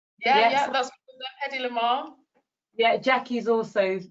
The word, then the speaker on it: Hedy Lamarr: Did I pronounce Awesome. that right? Yeah, Yes. yeah, that's Hedy Lamarr.